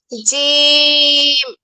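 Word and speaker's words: ج: জিম। জিম। জিম হচ্ছে শক্তভাবে উচ্চারণ করতে হবে।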